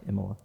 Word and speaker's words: Imola: Is that how you pronounce it? Imola. Imola.